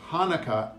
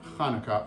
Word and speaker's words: Hanukkah: Actually, both Hanukkah and Hanukkah are right. The holiday's name is Hebrew, so there are different ways to spell it and say it in English.